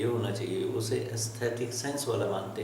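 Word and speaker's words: aesthete: एस्थीट कहेंगे हम उसे। एस्थीट सही प्रोनाउंसिएशन है, एस्थीट नहीं है।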